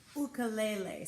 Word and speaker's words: ukulele: ukulele lesson so the ukulele which also the proper way to say it is the Fulco lele so that's the proper